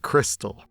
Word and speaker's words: KRXSTXL: together it's quick confused the name is pronounced Crystal I already don't like